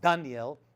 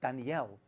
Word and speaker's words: Daniel: giving over and Daniel that's actually how you pronounce it it's not Daniel or Daniel it's Danielle he actually gave an